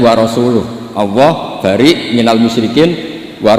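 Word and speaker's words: ورسوله: Allah itu terbebas, gak urusan dengan orang musyrik, wa rasulih juga gak ngurus Rasulnya. Kalau sama Rasul saja tidak ngurus, apalagi sama kita. Sama Sayyidina Ali dibenarkan, yang benar bacanya itu wa rasuluh, Allah bari minal musyrikin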